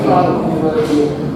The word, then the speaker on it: Freud: Bacanya Freud.